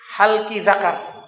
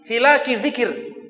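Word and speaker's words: حلق الذكر: dia punya ceritanya begini dia baca bab Fadli halqi zakar ini Kalau diartikan padahal babnya itu Bu salah baca dia harusnya bab Fadli hiluckey zikir bab keutamaan kumpulan-kumpulan ini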